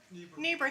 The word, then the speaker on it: Niebuhr: I'm sorry, Niebuhr? Niebuhr, thank you.